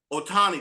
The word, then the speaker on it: Ohtani: I did get a chance to see Shohei Ohtani. That's how you pronounce his last name, right?